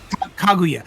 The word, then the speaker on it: Kaguya: Kaguya.